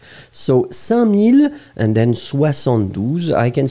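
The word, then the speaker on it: cinq mille: so 5000, 5000, it's 5000, d'accord, but you don't pronounce the k. So, 5000, and then 72, I can see that Cloudy Sky made the same mistake.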